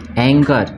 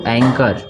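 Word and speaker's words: anchor: ठीक है तो देखिए इसको पढ़ेंगे एंकर क्या पढ़ेंगे इसको एंकर ठीक है इसको पढ़ेंगे हम एंकर यहां पे आपका ह जो है वो साइलेंट है ह क्या है साइलेंट है ठीक है इसके बाद इसको पढ़ेंगे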